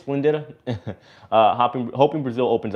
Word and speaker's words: Splendida: on the msc splenda slinditta is how you say it splendida uh hopping hoping brazil